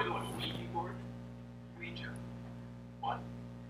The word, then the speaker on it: Ouija: Ouija. What? It's pronounced Ouija, not Ouija. It comes from the French and German words for yes, we and ya, Ouija.